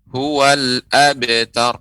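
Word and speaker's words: الأبتر: Huruf hamzah jelas ya. Huwal abtar dengan huwal abtar. Huwalla ya. Jadi huruf lam yang berharokat. Jadi harus hamzah ataupun alif pengucapan harus jelas.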